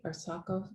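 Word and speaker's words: ASARCO: with the fallout from the arsako or our house that pronounced the arsako smelter said it there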